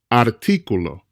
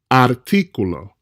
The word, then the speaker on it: artículo: Artículo, artículo, not artículo. Artículo doesn't exist in Spanish, and a native Spanish speaker will look at you very strange if you said that. Artículo.